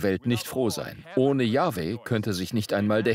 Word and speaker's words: Jahwe: Also, der Name wird „Jahwe“ ausgesprochen.